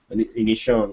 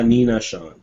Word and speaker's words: Aninacion: how do you pronounce your last name? Nina. Anishan. So there you go. Nina Sean like it's pronounced a nin. Uh Nina Sean.